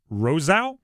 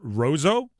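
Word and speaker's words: Roseau: I And I I might be pronouncing this wrong. Rosa or Roso uh is another town in Minnesota. Rouso. R O S E Au.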